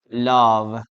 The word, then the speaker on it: love: Wrong pronunciation. Love. Okay, love. No, guys. No, we never say love. We say love.